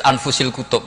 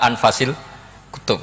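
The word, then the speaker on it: أنفس الكتب: anut bacaan saya saja di sini ditulis anfusil kutub kalau saya baca anfasil kutub karena maknanya kitab ter baik Kalau kitab terbaik bacanya bukan anfus tapi apa anfas ya nanti kamu debat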